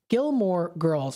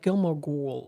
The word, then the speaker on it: Gilmore Girls: Gilmore Girls. For some reason, I'm saying it like Gilmore Ghoul, like ghouls.